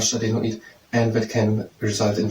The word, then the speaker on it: adenoid: It's an adenoid. Not an adonis, so an adenoid.